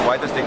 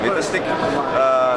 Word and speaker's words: Vitastiq: So it's Vitastiq, you can also pronounce it Vitastiq.